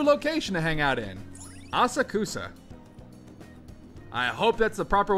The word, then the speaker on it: Asakusa: Asakusa. I hope that's the proper way to pronounce that.